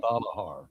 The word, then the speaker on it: Valahar: Okay, so there's the pronunciation. Valhar. Valahar. That's what they want. Let's do it. Yep. Valahar. Very good.